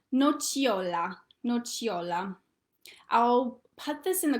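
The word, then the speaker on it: nocciola: exists in the word nochiola it sounds like cha um so it looks like no siola in english but it's pronounced nochiola and that's hazelnut the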